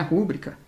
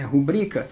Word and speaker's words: rubrica: tá o detalhe aqui não é rúbrica é rubrica a sílaba tônica é a segunda ela é uma paroxítona terminada em a a